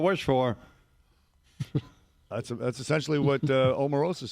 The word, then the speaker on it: Omarosa: Omarosa, is that how you pronounce the name?